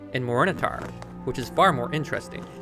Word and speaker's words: Morinehtar: Phonetically, Morinehtar sounds like morning star, and using that as